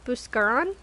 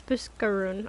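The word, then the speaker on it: Buscarron: wrong if I say have I been saying buscar on it's buskaroon okay um you bring thingy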